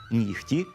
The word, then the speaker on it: нігті: Винятком із правила є всього декілька слів – легко, вогко, нігті, кігті, дьогтю, у яких звук «г» вимовляється як «х».